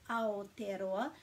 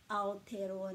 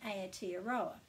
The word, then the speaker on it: Aotearoa: the vowels and then we just put a break after every vowel so if you know simon bridges please let him know how to pronounce and anyone else who thinks it's a tea arowa because there's no point